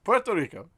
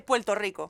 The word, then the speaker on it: Puerto Rico: Puerto Rico. Puerto Ricans don't say it like that. Just say Puerto Rico.